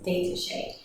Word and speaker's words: détaché: So the first bow stroke that we have is détaché. Détaché is by far the most common bow stroke used on the violin. So détaché kind of sounds like the word detached, right?